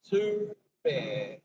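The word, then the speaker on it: Toobeah: If that's how you say it, to bear.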